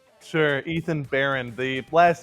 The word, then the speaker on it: Baehrend: Ethan Baron, the last name.